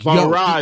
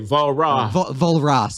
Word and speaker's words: Walras: I was just reading Walras and Marshall this past week, and they're like, Volra is what we say. Volra.